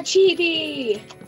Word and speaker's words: chibi: Yeah, chibi. I believe it's pronounced chibi.